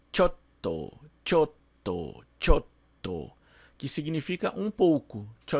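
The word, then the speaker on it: ちょっと: A pronúncia não é chotto, é chotto. Entre o cho e o to, a gente tem aqui, né, o que a gente chama de tsu pequeno, que na escrita em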